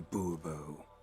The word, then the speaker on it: Bobo: monsieur de bobo fine monsieur de bubbo the emphasis falls on the last syllable see now i'd rather